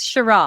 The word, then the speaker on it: Sheraw: Is it Sheraw or how? How'd you pronounce your last name? Yes, Sheraw, Sure.